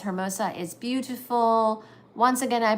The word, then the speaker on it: Hermosa: Let the H in Hermosa is silent just as an hour. Hermosa. Oh, I'm so sorry. I've been saying it wrong. Hermosa.